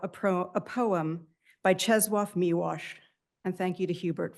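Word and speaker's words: Czesław Miłosz: I now want to borrow a pro a poem by Chzwaf Miwash and thank you to Hubert for correcting my pronunciation.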